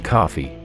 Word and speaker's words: Coffey: the convict's name is John Coffey like the drink only not spelled the same he was a large